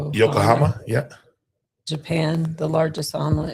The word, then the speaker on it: Yokohama: Yoko- Yokohama, yeah. Japan, the largest island in history. good That's Now, that's a statistic. See? Now, somebody knows that. Yeah. Thanks, Leo. Yokohama.